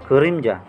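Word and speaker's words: 그림자: Mag-focus po kayo kung paano bigkasin. Kurimja. Ku, kurimja.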